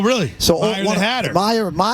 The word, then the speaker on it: Meyer: I'm doing a little book signing this afternoon at the Mayor Mad Hatter. Oh, really? So Meyer the Hatter. Meyer.